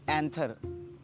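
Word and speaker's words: anther: आप इस फूल का पैंथर इस फूल के पैंथर से टच करा देते हैं सॉन्ग में। सर इट्स एंथर, पी sir silent like in psychology pseudo.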